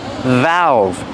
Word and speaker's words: valve: is a valve pronunciation valve use the short a sound like black cat valve valve make the V sound VV vibration valve remember they're 2vs valve one in the beginning